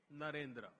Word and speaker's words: Narendra: I said that their name, Devendra, rhymes with my own name, Narendra.